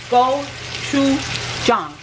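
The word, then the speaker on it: 고추장: want to try that chicken and the name goou Chong go Chu Jong Jong had to repeat that a couple times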